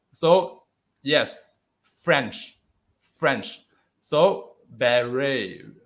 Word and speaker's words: beret: yes french french so beret of beret is a french word okay because normally the tia is silent one in french okay so this is barry okay okay now this